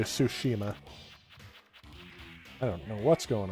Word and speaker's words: Tsushima: i don't know exactly i say sushima because that's who the youtuber who i heard all about it from uh that's how he pronounced it but in the game they pronounce it so i'll say it more slowly tsushima i don't know what's